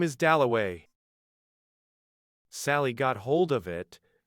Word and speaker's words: Dalloway: Somebody had brought him over, and Clarissa got his name wrong. She introduced him to everybody as Wickcham. At last he said, "My name is Doway."